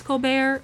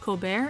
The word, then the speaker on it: Colbert: The T in Colbert is not silent in the names of the majority of his family members, but can you blame someone for trying to be fancy?